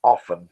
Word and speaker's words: often: You pronounce it as often, which is British English.